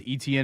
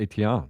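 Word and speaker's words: Etienne: They lost um and and we're not calling him Travis ETN anymore. Is that right? There's a new name, a new pronunciation of his last name. Uh, I think he's always called it Eton, right?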